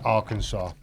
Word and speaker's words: Arkansas: states of america if you don't know his pronounced arkansas and his bill clinton was um all-powerful he